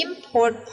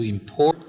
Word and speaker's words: import: Number 5 is noun, import. Number 6 is the verb, import. Again, the schwa sound, import.